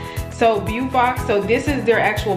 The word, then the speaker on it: Beaufox: I say it like that because like Beau, I think it's like beautiful and then Fox. So Beaufox, so this is their actual box.